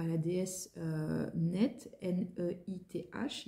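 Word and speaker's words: Neith: La source est visiblement chez un prêtre égyptien, un prêtre dédié à la déesse Net, N-E-I-T-H. Il y a différentes prononciations pour cette déesse.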